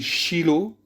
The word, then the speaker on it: Shiloh: donner la traduction de silos donc le mot silo qui se dit shiloh en hébreu toujours pardon on le